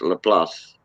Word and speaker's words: LaPlace: Some people say Laplace. I call, since I'm from around there, I always call it Laplace. That's how it's pronounced, Laplace. The place in French.